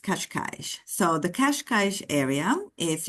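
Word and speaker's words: Cascais: kashk but in uh in Portuguese it's pronounced kashkash so the kashkash area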